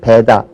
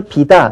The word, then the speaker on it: 배다: 배 왜 비다쪽으로 잠깐만 발음맞느냐면 배다 할 때는 입을 좀 많이 벌려야 되고요. 비다 할 때는 입을 조금만 벌려도 돼요. 그래서 그 발음의 경제성 원리 때문에 우리는 그 현대부에서 자꾸만 입을 덜 벌리고 얘기하려는 경향이 있어요. 그러다 보니까 배다 이렇게 발음할 걸 비다.